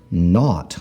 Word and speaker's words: knot: So, word number one is not. like a knot you would get in a shoelace.